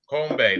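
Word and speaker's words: 건배: Kombe.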